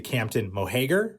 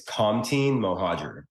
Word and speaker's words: Kamtin Mohager: so you know obviously I'm talking to Captain moheger right correct uh no okay there is no wrong way of saying it at this point the real pronunciation of my name is Compton mohajer okay okay it's like